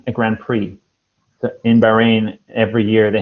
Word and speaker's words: grand prix: forget about the x forget about the x the x is silent it's just like this grand prix a grand prix in bahrain every year